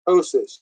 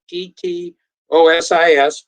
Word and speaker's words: ptosis: else the first thing that's noticeable is there's ptosis this is spelled p t o s is ptosis ptosis means drooping eyelids breasts organs the